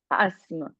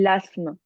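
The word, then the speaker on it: asthme: ici l'autre mot last ASME il a un un mot compliqué à prononcer ça se dit l'ASME est-ce que tu sais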